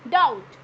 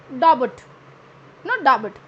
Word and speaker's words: doubt: Then डाउट, DOUBT, डाउट. This is डाउट, नॉट डाबट. डाबट नहीं बोलोगे उसको, डाउबट भी नहीं बोलोगे.